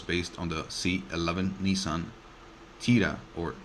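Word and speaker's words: Tiida: the latter was based on the C11 Nissan Tia or Tia that's spelled TI i d a it began production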